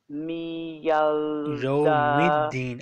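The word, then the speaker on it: يَوْمِ الدِّينِ: Yawmiddin. Alif lam is silent. Alif lam is absolutely silent.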